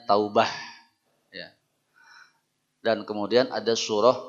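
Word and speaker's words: توبة: kita dalam mendefinisikannya tiib Taubat dalam bahasa Arab tulisannya taubatan ya dengan ta marbutoh sehingga bacanya Taubah ya dan kemudian ada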